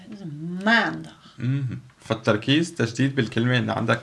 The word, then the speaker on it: maandag: Okay, dus de klemtoon ligt steeds op de eerste. Dus maandag.